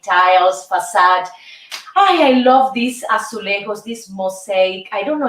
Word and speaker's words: azulejos: I love these azulejos, this mosaic. I don't know if it's the right pronunciation.